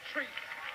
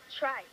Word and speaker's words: Trice: Treese. Or Trice. Boom. Ah, like a fly man. Pronounce your last name. Trice. It's Trice.